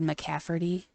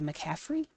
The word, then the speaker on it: McCaffrey: a list of Players whose names have been mispronounced and who's done them my entire like fandom of the NFL I've always said McCafferty with a t and um I was a